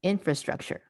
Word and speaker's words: infrastructure: So it'd be chur, structure, infrastructure, infrastructure, right?